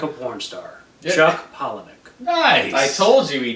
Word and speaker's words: Palahniuk: I've been saying Palahniuk for the longest time, and it's Palahniuk. Ah. Chuck Palahniuk. Like pollen and Nick. Well, Paula, Nick. Pollen. Paula. Pollen-Nick.